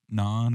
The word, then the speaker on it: naan: It's like naan or Naan, yep. And it's spelled N-A-N.